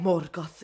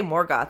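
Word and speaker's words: Morgoth: how it's said and so like I'll try to get the pitch exactly right Mor goth you know so uh rather than saying I could say morg goth I don't care but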